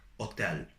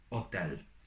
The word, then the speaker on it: hotel: in a word like hotel, hotel. And as you can see, H is silent in Italian, so you never pronounce it.